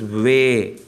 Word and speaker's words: way: The pronunciation for W is way. W-A-Y, way. So every time you get W, you should call as way.